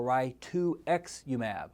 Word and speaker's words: rituximab: that's easy to remember if you pronounce rituximab as rituximab or ry2x umab like the number two and then the Roman numeral 10 or X so 2 times 10 is 20.